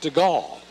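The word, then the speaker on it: Stegall: He gives it to Keenan Stigle, a 6-1, 180lb senior, spelled S T E G A L L, pronounced Stagall.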